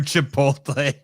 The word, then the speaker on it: Chipotle: This CrossFit Media is singing for Chipotle. That's fair. It's the first times you pronounce it correctly.